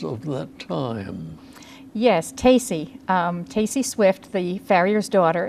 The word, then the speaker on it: Tacy: It's not Casey, it's T-A-C-Y. It's like Stacy without the S.